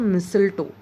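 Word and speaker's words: mistletoe: parasitic plants में जब मिसल टो इट्स मिसल तो हम डिफरेंसेस मिस्लटू ठीक है स्पेलिंग कुछ अलग तरीके से लिखते हैं बट प्रनंसीएशन उसका अलग है है तो यहां पर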